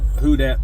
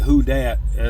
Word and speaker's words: Who Dat: Appalachian Customs, Pritchett Select Smokes, Skinner Smoke Rings, Who Dat Pipe Works. And when I say Who Dat, I mean that's how it's spelled, WHO and then DAT Pipe Works.